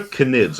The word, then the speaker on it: Knid: No, that's just It's just how you pronounce it cuz it's it's spelled k n i d and you pronounce the k in knid like you pronounce the k in K'Anthony.